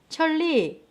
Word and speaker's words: 천리: 천리, 니은이 리을로 바뀌어요.